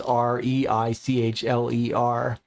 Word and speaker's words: Reichler: my last name is r e i c h l e r reichler so I just have to remember the way you pronounce my last name tells you whether it's read or write and then C is